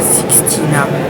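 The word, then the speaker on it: Sistina: En vrai, ça s'appelle pas chapelle Sixtine, ça s'appelle chapelle Sixtina. Sixtina.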